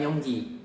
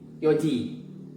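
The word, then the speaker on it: 四時: Nah, ini hati-hati cara bacanya, bukan yongji, tapi jadi yoji.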